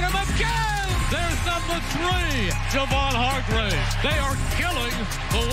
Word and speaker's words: Javon: We've all been saying Javon for years. What finally took it for you to say, hey, my name is Javon, Javon Hargrave?